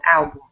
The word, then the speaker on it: album: The stress is on the first syllable, album.